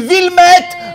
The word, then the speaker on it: Wilmet: bref mesdames et messieurs 1 ville met avec le thé qu'ils se prononcent pas ou pas facile à